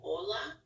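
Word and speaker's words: hola: silent so for example Ola uh you don't pronounce the h or ablab there's an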